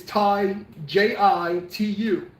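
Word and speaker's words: 太極圖: spell it in Chinese, it's Tai Jitu, Tai Ji 2, okay, it's not Tai Chi, it's not Chi.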